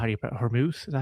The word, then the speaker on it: Hormuz: What's going on with the wanted to ask you about the Strait of how do you Hormuz? Is that how you pronounce it?